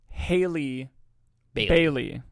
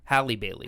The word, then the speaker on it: Halle Bailey: more of the performances yes I missed I mispronounced her name in the end of the theater review Haley Bailey Hallie Bailey Hallie Bailey Jesus I'm so sorry Hallie Bailey